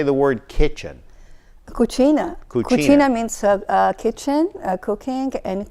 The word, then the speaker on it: cucina: Cucina.